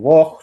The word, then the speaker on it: Bosch: que es el señor Jordi Bosch, o Bosch, se pronunciará en buen catalán, ¿no?